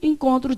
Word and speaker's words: encontro: Se eu falasse encontro, tem dígrafo? Aqui, ó. É N, em, e ON, com. Não tem 2 dígrafos aqui? Na hora de ler, você vai ler assim, ó.